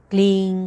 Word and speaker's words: क्लीं: तो जब आप उच्चारण करेंगे तो ना तो वो प्रॉपर एम आपके मुंह से आएगा या ना ही एन आएगा, ना तो वो प्रॉपर म हुआ ना ही प्रॉपर न हुआ। उसका उच्चारण कैसे करेंगे? आप नाक से करेंगे।